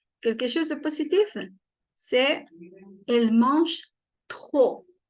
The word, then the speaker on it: trop: C'est elle mange trop. La P no suena. Y la R hay que pronunciarla con la garganta. Trop. Que se escuche fuerte.